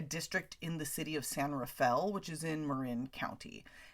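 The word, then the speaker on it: San Rafael: it's actually a district in the city of San Rafel which is in Marin County and yes that is how you say it it's spelled San Raphael but it's said it's pronounced San Rafel um I had a friend who worked for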